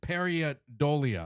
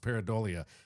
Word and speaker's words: pareidolia: It's called pareidolia, I believe is how it's pronounced, pareidolia.